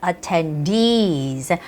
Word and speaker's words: attendees: the second syllable and very very difficult and challenging word is attendees and I tell my students when there are two E's consecutively then the stressed normally goes onto those two E's so it's not attendees